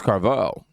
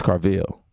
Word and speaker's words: Carville: Now, Bill O'Reilly loses it on James Carval. Yeah, y'all heard me say his name like that because I was over here like it's Carville.